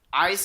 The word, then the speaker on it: Yse: Vex and Nagaish belong to my mother, and then there's this dog called Ice. It's spelled Yse. She belongs to my nana. Ice is a replacement for my nana's old dog Buttercup.